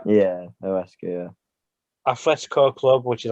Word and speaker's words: Huesca: Is it Huesca? Yeah. Yeah, Huesca, yeah.